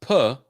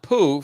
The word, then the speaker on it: Peau: Abu says it's pronounced Peau, not poo, French for skin.